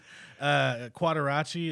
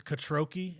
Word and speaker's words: Quattrocchi: Quattrocchi is the most common one I get. It's Quattrocchi is the actual accurate pronunciation.